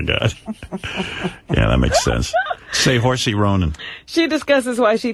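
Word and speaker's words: Saoirse: Here's how you say her name. This is the star of the movie, the girl? Yes. Swarovski Ronan. Swarovski, you think it is? Seahorse Ronan. Seahorse Ronan. That's her name, I swear to God.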